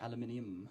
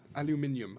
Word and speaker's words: aluminium: which is aluminium. Aluminium. Yeah, we must, as the Germans would say, it's aluminium.